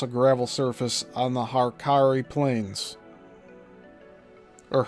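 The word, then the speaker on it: Hauraki: Puara South Road stretches for a mile across a gravel surface on the Harari Plains or Haraki Plains. That's spelled H A U R A KI.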